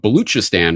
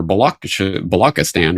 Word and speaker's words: Balochistan: I was writing about Baluchistan or Balochistan, or it's spelled and pronounced different ways in English.